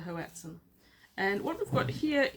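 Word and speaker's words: hoatzin: H O A T Z I N. And I think I think it's called a hatum.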